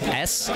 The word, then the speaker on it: Shelpin: It's SHELPIN.